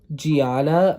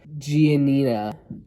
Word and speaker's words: Giannina: want to clone him myself then we have Gianna m'lady gabelli she's 25 she's a business owner wait wait I said her name wrong Giannina Giannina G whatever we're just gonna call her